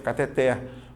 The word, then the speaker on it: cateter: saúde fala dessa forma só que o correto é até então a sílaba tônica tá aqui quando ele é aberto cateter ou seja ela é uma oxítona ela é uma oxítona terminada em R logo não leva acento